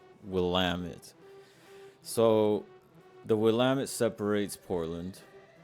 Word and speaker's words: Willamette: I call it the Willamette, but people laugh at you when you say it like that. So, Willamette.